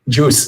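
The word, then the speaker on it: Guice: Juice is the pronunciation.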